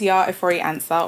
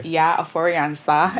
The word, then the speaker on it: Yaa Ofori-Ansah: So my name is Yaa Ofori-Ansah, or Okay. Yaa Ofori-Ansah, Yeah, if we're pronouncing it correctly, you know.